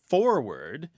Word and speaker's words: forward: a matter of fact there are people who say the word forehead and the word forward they rhyme they sound like homophones forward yeah it's very interesting